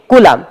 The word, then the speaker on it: coulomb: ये स्पेलिंग ठीक कर लिए, COULOMB, ठीक, कूलाम।